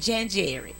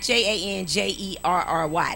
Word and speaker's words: January: It ain't January. It's not Janjerry. That sounds like a brand of jelly.